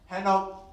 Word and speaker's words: Henok: Oh, if you guys didn't know, my name is pronounced Henok.